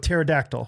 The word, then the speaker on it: pterodactyl: chose to go with pterodactyl which has a silent p at the beginning and you're like okay